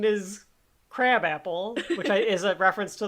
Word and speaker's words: Krabappel: But the whole joke here is that Krabappel is the way that her name is pronounced.